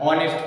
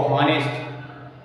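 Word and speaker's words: honest: बहुत सारे बच्चे पढ़ते हैं ऑनेस्ट को हॉनेस्ट, नो को कनो, के नो डब्ल्यू वाला, और वॉक्स को जो है वॉल्क्स, ये वॉक्स है।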